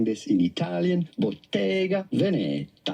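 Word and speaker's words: Bottega Veneta: that that's not it we want the Italian pronunciation as in English and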